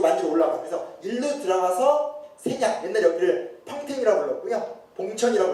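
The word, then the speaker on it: 선양: 왜냐면 이쪽 만주로 올라가서 그래서 일로 들어가서 세냥 옛날에 여기를 평택이라고 불렀고요. 봉천이라고 불렀고 지금은 그러니까 중국 발음으로 세냥이고 보통 우리가 할 때 심양이라고 부르는 지역이에요.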